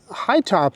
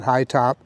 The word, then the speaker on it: Hytobp: so uh high top it's an interesting way they spell their name it's h y t o b p so I don't know how you pronounce that b in there I'm just going to call it high top uh but anyway this